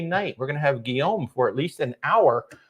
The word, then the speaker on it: Guillaume: I'm going to have Guillaume. I think that's how you say his name is Guillaume.